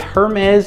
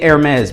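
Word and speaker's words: Hermès: I'm gonna say Hermes because that's what I hear the most, even though I've heard both and I've heard supposedly experts say both. So we're going with Hermes. The H is silent tonight.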